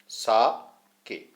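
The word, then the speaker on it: 酒: सा is pronounced like फा इन father and के राइम्स विद वे, के, सा के।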